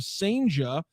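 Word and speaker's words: Cijntje: Sanja Sanja excuse me that's how we're pronouncing the last name Derangelo Sanja and outfielder Lazaro Montes.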